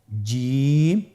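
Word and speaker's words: جيم: জিম হরফটি বারিক হরফ, এটা উচ্চারণ করতে হবে তিন আলিফ টেনে। দেখুন আমি কিভাবে উচ্চারণ করছি, আপনারা আমার সাথে করুন জিম। মাশাআল্লাহ, আবার বলুন জিম। আপনারা চেষ্টা করুন, হয়ে যাবে। এর মাখরাজ হলো জিহ্বার মধ্যখান, তার বরাবর উপরের তালুর সঙ্গে লাগিয়ে উচ্চারিত হয়।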